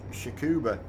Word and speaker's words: Tsukuba: truck is coop yeah I think it's pronounced Tsukuba but it starts with the T its TS you care you bei